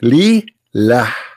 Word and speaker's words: Lillah: The first one pronounced as Allah, the second one it says Lillah.